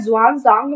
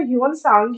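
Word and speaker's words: Xuanzang: यहाँ आपको बहुत बार जुआन सांग मिलेगा। इसका मतलब ह्यून सांग ही है, मतलब बहुत बार प्रोनाउंसिएशन और लिखने का तरीका अलग हो जाता है क्योंकि चाइनीज नेम है इसलिए।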